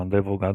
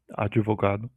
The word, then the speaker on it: advogado: Fonética do português brasileiro naturalmente insere vogais de apoio em consoantes mudas mediais.